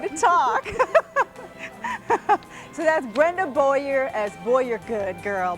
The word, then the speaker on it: Boyer: her last name it's she wants me to say it Boyer like boy you're good and she was she